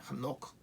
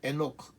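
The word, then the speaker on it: חנוך: 가인이 에녹을 낳았다라고 하는, 에녹은 히브리어는 그 발음은 한옥이에요. 한옥. 그런데 한옥이 에녹이 된 것은 70인역을 번역하면서 에노크 이렇게 된 겁니다.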